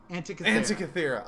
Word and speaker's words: Antikythera: Antikythera. Okay, I was so close. I think that's the consensus on the pronunciation.